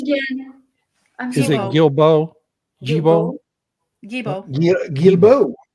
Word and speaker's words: Guilbeault: How's his name pronounced again? Is it Guilbeault?